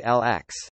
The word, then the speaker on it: LX: on the planet Polysorbate LX. LX. Pronounced 60. After the preservative.